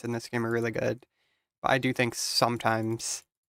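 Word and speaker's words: gauche: Now initially the way that I wanted to read that was geish, right? Somewhat geish because of the g and the a but goch is actually a French word and the proper pronunciation is go.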